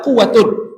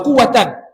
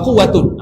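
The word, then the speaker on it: قوةٌ: maksudnya mansub makna bukan mani bacanya La haula wala quatun La haula wala bukan La haula wa quatan La haula wa quatun tak ada la la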